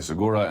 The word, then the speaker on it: Segura: Luke Thomas, MMA Fighting, Sirius XM, MMA Fighting owned, Segura, and then MMA Fighting and the Ringers. I say the hard G there.